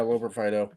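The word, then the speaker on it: Loperfido: And I hope you can pronounce his last name, but is it Loper-Fido? Yeah, Loper-Fido.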